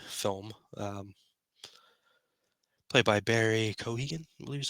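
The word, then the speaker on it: Keoghan: in the Batman film um played by Barry Kohan was how you pronounced his last name uh we got a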